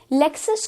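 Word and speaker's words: Lexus: लेक्सस को हम LEK, लेक्सस की तरह प्रोनाउंस करेंगे एंड लेक्सस becomes the correct pronunciation.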